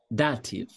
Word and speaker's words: Dativ: Só para falar de pronúncia aqui, vê no final aqui, soa como? Mudinho. Como é que é? Ah, não. Calma. E agora fiquei numa dúvida. Eu achava que eu tava fazendo ver mudo, mas é isso mesmo? Não, som de F.